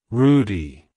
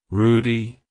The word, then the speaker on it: Rudy: Rudolph it's pronounced as Rudy Rudy Rudy to pronounce it correctly emphasize the first syllable Roo and then the second